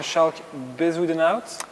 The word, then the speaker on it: Schalk Bezuidenhout: Hi everyone, today this is a special interview in English and we are pleased to welcome Schalk Bezuidenhout. Yes. Is it the right pronunciation? That was perfect for, where are you from?